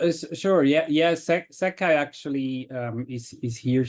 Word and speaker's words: SEKAI: us Bruno and Stefan over from is it pronounced seai s e k AI absolutely correct perfect well